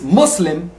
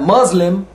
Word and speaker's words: Muslim: It's Muslim, not Muslim or Muslim.